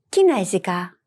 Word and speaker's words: Κινέζικα: Did you notice that this word is not stressed on the last syllable? Well, some languages do not follow the same intonation pattern, and you'll have to memorize them.